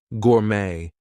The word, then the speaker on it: gourmet: So, things like ballet, gourmet, we are not going to pronounce the T there.